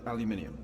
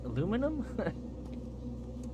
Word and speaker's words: aluminium: Looks like aluminium. What? Aluminum? Why do you say it like that guy? Well, I guess he's British, so.